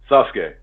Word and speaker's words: Sasuke: What's the proper pronunciation of it, Bryan? What do you call him? Sasuke.